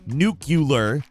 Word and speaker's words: Nucular: Previously, that record was held by Waz and a guy named Nuclear. Yes, Nuclear. That's how it has to be spelled for the pronunciation to be nuclear, everyone.